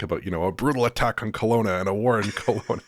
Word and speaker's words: Kelowna: Now, Kelowna is spelled Kalona, so it should be Kalona perhaps, but they pronounce it Kelowna.